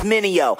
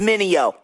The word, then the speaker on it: Mineo: Run, say my name, it's Mineo. Say it with me, Mineo.